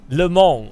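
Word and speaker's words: Le Mans: fact that the IRL Lamar 24 is coming this weekend any chance you could pre please start pronouncing it Lon are you the S is right right he can bug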